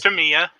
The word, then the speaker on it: Tamiya: I heard the proper enunciation. It's Tamia. It's Tamia. No, it's Tamia. Tamia, as you say, yeah, Tamia. Yeah. No, it is. The Japanese say it differently. No, that's exactly how they say it. If you go, you can go Google Tamia pronunciation, and Tamia, the company, put out a video saying it's pronounced Tamia.